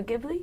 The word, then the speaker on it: Ghibli: Toronto, like, me and my sister have a really big thing for Studio Ghibli.